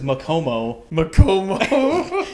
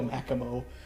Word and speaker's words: Makimo: I pronounce it right, it pronounced it as Macomo. And I'm like, I'm not saying it like that. I'm going to go Makimo.